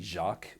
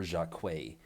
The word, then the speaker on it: Jacques: And I don't know how to pronounce this gentleman's uh, first name because it could either be Jacques or Jacquet.